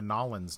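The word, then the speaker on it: New Orleans: western United States accent says like nollans okay guys I'm flying down to nollans next week like where and then they and then they argue but that's how they say it yeah Louisville it's like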